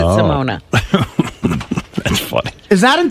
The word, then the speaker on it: Simone: It's with an E. They pronounce it Simona.